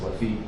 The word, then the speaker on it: Lafayette: Washington and the French general Lafayette, or in French it's Lafitte, but Lafayette, they surround Yorktown, and